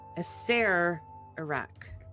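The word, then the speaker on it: Acererak: ser iraq yeah yeah the first half is like french pronunciation i i struggled with this a lot it took me ages to understand but yeah i say iraq there's a lot of there's too many r's in there uh you know what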